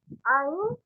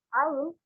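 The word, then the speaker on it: عين: Ain, pengucapan huruf ain itu terasa nggak kalau dia di kerongkongan kita? Nah, pasti terasa kan?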